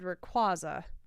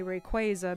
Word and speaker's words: Rayquaza: in 15 days so when i was growing up i said rayquaza but now i say rayquaza because i've been told that i was pronouncing it incorrectly but it's actually pronounced rayquaza or not rayquaza that